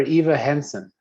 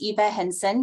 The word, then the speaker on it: Eva Henson: was still up sorry um is it ever Eva Hansen hi it's Eva Henson can you hear me